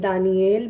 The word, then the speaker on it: دانیال: ایوب اللہ تعالیٰ کی طرف لوٹنے والا۔ دانیال اللہ میرا قاضی ہے، اور اس کا ایک تلفظ دانییل بھی ہوتا ہے۔ حزقیل اللہ قوت عطا